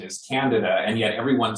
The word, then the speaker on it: Candida: he was very clear with me that the pronunciation is canada and yet everyone says candida and so i kind of defaulted to saying